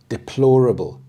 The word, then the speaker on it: deplorable: Deplorable, deplorable. The stress is on the second syllable, deplorable.